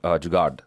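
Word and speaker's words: jugaad: or or pen Indian word but it's called jard it's j u g a a d I've also SP seen it spelled with one a and it me the idea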